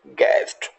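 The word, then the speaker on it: guest: गैस, यू को again हमने silent रखा है। Next and the last that is गैस्ट।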